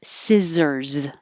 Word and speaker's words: scissors: cut it up and the noun the tool is scissors with a z at the end scissors both of them